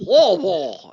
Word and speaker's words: Louisville: You got to say it like that. Like you have marbles in your mouth. Louisville at number 24.